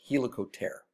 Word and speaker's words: helicopter: spin its spinning wing but it really in some sense should be pronounced helical ter okay now we can